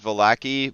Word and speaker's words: Vallaki: town of valakai and I know a lot of people like to pronounce it for Lackey and I'm that's cool uh and I know that that's how they officially want you to pronounce it is volacki but again uh the